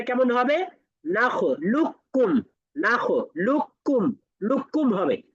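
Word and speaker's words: نخلقكم: নাখ লুক্কুম নাখ লুকুম লুক্কুম হবে মাঝখান থেকে কফ উদাও যদি আমরা এখানে কদাখালু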